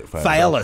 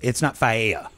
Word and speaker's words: Fiala: Fiala. So it's not Faea. No. I was, because it's spelled like paella.